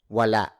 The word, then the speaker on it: wala: Meanwhile, the Tagalog way of saying no, there isn't, it's wala, spelled as Wala. Wala. Wala.